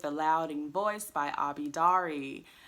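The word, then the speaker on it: Daré: Loudoun boys by Abby dari I've been pronouncing her name wrong this entire time I think I called it Abby dare in another video this book follows 14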